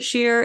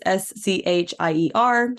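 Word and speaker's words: Schier: So I don't really know where they would have gotten it from either, but they pronounced it Shear. It's Scheier.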